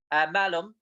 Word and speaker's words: Malum: the 34th stats throughout Ireland uh it's called melon melon in terms of its correct uh pronunciation it features an All-Star Caster Jessica Zulu